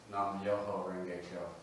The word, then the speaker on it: Nam Myoho Renge Kyo: The Japanese pronunciation of the Sanskrit title would be Nam Myoho Renge Kyo.